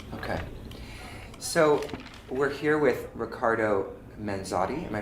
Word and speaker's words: Riccardo Manzotti: So we're here with Riccardo Manzotti. Am I pronouncing that correctly?